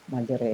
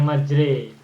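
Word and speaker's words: مجراها: Jadi majra diterjemahkan dengan tempat atau waktu berlayar bacaan imai majroha waha cuma tajwid dibaca imalah majre imalah jadi bacanya majre i majron mijron oke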